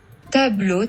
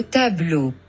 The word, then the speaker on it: tableaux: 'tableau' without the x which is pronounced exactly like the tableaux with the x paintings, painting tab-lo, tab-lo I know French is